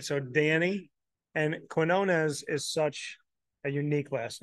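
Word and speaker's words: Quiñones: a Q, it'll be Quinones. Yeah. But if you're like Hispanic, everyone's gonna pronounce it with a K, like Quinones. Yeah. So, but a lot of people they slaughter. I done got called Quiznos, Quinones.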